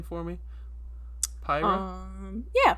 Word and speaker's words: Pyra: You want to pronounce her name for me? Pyra? Yeah, Pyra.